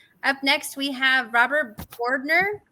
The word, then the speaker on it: Bordner: Up next, we have Robert Bordner. Correct me if I pronounced that wrong, Robert, with Slidewaters.